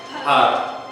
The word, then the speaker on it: Har: All right, this mantra we're hearing, har, har, har, har, har, har, har.